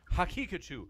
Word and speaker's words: Hakikachu: By the way, Daniel Hakikachu's name is pronounced Hakikachu, like Pikachu with ha in the front.